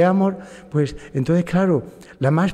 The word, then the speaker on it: Amorth: porque aquí en España allá en Roma se dice Don gabriele amor Ah el acento en la a pero aquí en España decimos Don Gabriel Amor amor amor sin la H incluso sin la H